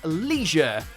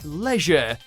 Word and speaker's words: leisure: In America, you'll almost always hear people say leisure, like it's got an extra E hidden somewhere, while in the UK it's more like leisure, as if the I isn't there at all.